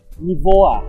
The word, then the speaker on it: Niva: Sudio released, the Sudio Niva. Yes, that is how it is pronounced because I learned it from Google Translate.